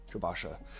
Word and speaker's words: Jobasha: Have I been pronouncing it wrong this entire time? I probably have. Like half the things in Morrowind, completely impronounceable. Jabashas. Not Joe. You are right. You as a friend. Jacob, you are right. I am wrong. I've been pronouncing Jabashas. Rare books. It's Joshaba's rare books. I am terrible.